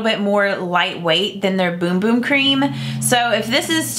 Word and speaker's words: Bum Bum: Brazilian bum boom cream it looks like bum bum but it's pronounced boom boom and I used this